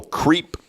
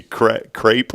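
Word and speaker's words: crêpe: Today, National Creep Susette Day. It's supposed to be crepe or whatever. Like crepe myrtle. Creep. Creep. I think it's pronounced crepe.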